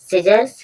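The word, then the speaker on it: scissors: means कैंची होती है और जो सीजर्स है यहां पर भी एस के बाद सी का जो साउंड है वह साइलेंट है साउंड नहीं बोला गया सीजर्स मींस होता है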